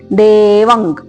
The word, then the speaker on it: ದೇವಂ: ಬರುವಂತಹ ಅನುಸ್ವಾರ ನ ಅರ್ಧದಷ್ಟು ಆನಂತರ ದೇವಂಕ್ ಇಲ್ಲಿ ಅನುಸ್ವಾರ ಕ ವರ್ಗದ ಅನುನಾಸಿಕ ಅಂದ್ರೆ ಞ ದೇವಂಗ ದೇವಂಗ ಸರಿನ ಮುಂದಿನ ಚರಣದಲ್ಲಿ ಕಂಸ ಚಾಣೂರಮರ್ಧನಂ